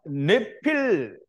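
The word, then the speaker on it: נפלים: 자, 이제 우리가 네필 혹은 이제 네피림이라고 하는데요. 우리가 이제 거의 다 네피림이라고 말하는데 히브리어의 본래 발음은 네필이에요. 네필.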